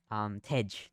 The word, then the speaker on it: Tej: And Taj, Taj. Tej.